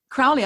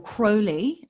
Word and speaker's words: Crowley: yes anyway yours not mine um yeah so crowley i first heard or crowley as i've discovered it's actually pronounced guy first what we've got to talk